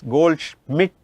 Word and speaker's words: Goldschmidt: Pronunciation Raghu, yes, Goldschmidt, SCHMIDT, Schmidt.